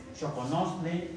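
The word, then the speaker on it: xoconostle: Se pronuncia como CH, pero se escribe con X. Choconosle.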